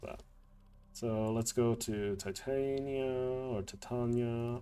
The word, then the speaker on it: Titania: so let's go to Titania or Titania I prefer saying to Tanya but apparently the canonic pronunciation is to uh Titania I'm not sure so let's start with